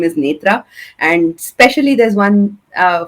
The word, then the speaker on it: Nethra: It's quite difficult to pronounce uh for everybody. So I my preferred name is Nitra and especially there's one uh funny thing about